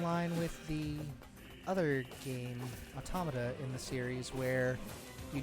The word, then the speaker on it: Automata: out first compared to automata or automata it depends on your desire for pronunciation since technically it's um automata as in automaton but um in the platinum and square enix studio they pronounced it both ways you can get outside